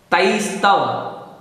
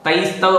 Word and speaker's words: तैस्तव: तैस्तव, तैस्तव पूरा बोलना है आपको, तैस्तव।